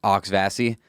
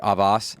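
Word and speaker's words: Auxvasse: there's a town called, it's spelled AUX space VASSE. I believe it's French influence, Okay, yeah. but they call it Auxvassi instead of like Avas.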